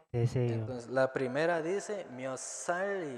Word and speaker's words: 몇 살: Entonces, recuerden, mio sal, que se arrastra.